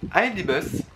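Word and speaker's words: iDBUS: Pour aller de Paris à Londres, je vais prendre ID-Bus. Oui, pour une fois, je prononce bien, je dis pas ID-Bus comme en français, pure souche, qui serait anglophobe.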